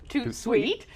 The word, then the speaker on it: Tout de Suite: Yeah, Tout Sweet, pronounced Tout Sweet, joins us this afternoon.